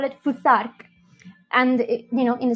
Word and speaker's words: Futhark: As you can see, the first letters of the alphabet are f, u, th, a, r, k. If you pronounce it all in one go, it's Futhark.